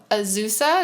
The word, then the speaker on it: Azusa: And you went to Azusa?